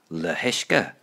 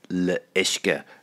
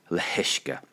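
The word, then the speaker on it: le huisce: You would logically think it's le ishke, but it comes out as le hishke. There's a wee H sound comes in there.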